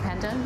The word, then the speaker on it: pandan: I've never seen pandan. Is that how you say it, pandan?